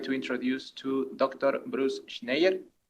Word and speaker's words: Schneier: Bruce Schneier. Did I pronounce it correctly? It's pretty good, Schneier. Schneier, okay. That's perfect.